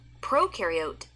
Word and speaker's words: prokaryote: Prokaryote, the pro rhymes with no, and they have no nucleus, which holds the genetic material and controls the cell's activities.